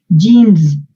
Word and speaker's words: James: Ponte a zumbar como abejita. Así. ¿Ves? O sea, si la hacen como S, es muy difícil porque es sorda. Tienen que zumbar como abejas. O como, sí, como abejitas.